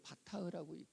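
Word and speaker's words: בטח: 백성들아, 그를 시시로 그를 의지하고, 이때 의지하라고 하는 이 말이 히브리어로는 바타흐라고 읽혀집니다.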